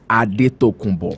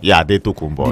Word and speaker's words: Adetokunbo: Basketball player, but then his name is actually Adetokunbo. Adetokunbo. The dad still uses that. It's just the misspelling from the basketball team, and it just stuck. That was the way they could pronounce it.